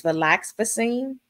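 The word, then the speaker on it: venlafaxine: Effexor, the pronunciation is valaxfacine.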